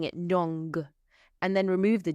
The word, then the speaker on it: non: And you pronounce it with a nasal sound on the end. Just like when we had bong, which was good. If you imagine a g on the end of nong, so you're pronouncing it